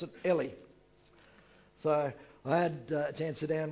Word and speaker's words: Eli: the Bible and you say Eli we always pronounced that Eli okay well that's his name so I guess he knows how to pronounce it Ellie so I had chance down with Ellie for